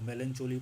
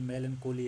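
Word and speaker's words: melancholy: जैसे कि आपको पता होगा कोई इसको मेलन चोली पढ़ रहा है। यह मेलन कोहली है।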